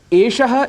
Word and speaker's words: एषः: यहाँ पर श, ये जो मूर्धन्य इसका उच्चारण है, मूर्धन्य में हमारी जिह्वा ऐसी रोटेट होती है जिसको रेट्रोफ्लेक्स कहते हैं। एषः, एषः।